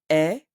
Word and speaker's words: est: We have an interesting word in this sentence, est. It is written E-S-T, but I don't pronounce the S and T.